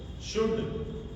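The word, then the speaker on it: should: इसी तरह से शुड वुड कुड इन सब में एल के तुरंत बाद क्या आ रहा है? डी आ रहा है। तो इसमें एल हमारा साइलेंट रहेगा। इसी तरह से काम पाम देखिए एल के बाद में एम आ रहा है। काम मतलब शांत रहना। पाम मतलब हथेली तो इसमें भी हमारा एल साइलेंट रहेगा।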